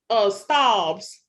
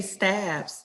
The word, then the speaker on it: Staub's: But somebody should be saying, you need to be at Staub's. What's the steakhouse called? How do you pronounce it, Letitia? I want to say Stabs. Stab. I was trying to sound upper echelon. Staub's.